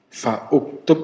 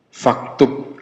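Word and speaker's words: فَاكْتُبْ: Tapi kalau didahului misalnya fa, ya, gimana bacanya? Fa uktub apa faktub? Bacanya apa? Faktub, ya, bacanya faktub. Harokannya tidak dibaca. Harokannya dibaca kalau tidak didahului oleh huruf apapun. Kalau didahului oleh huruf atau kalimat, maka hamzahnya tidak dibaca.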